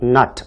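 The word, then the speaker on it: knot: 그다음에 Somebody 이렇게 되겠고요 두 번째로는 not 이에서 K 발음이 안 됩니다 소위 말하는 금이 그래서 아를 빼고 우리가 이 아니라 not 이렇게 쓰셔야 되겠습니다이 not이라고 하는 말은 인생의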